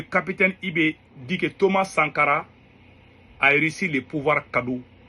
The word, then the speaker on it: Sankara: Quand j'ai entendu le capitaine prononcer Thomas Sangara dans sa bouche, c'est comme si il n'a pas dit le mot.